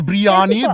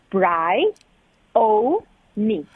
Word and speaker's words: Bryoni: where they said is that is brianni that is Biryani this is Brioni and then I'm like okay so how do we pronounce her name now please so you pronounce my name Bry o me it's a very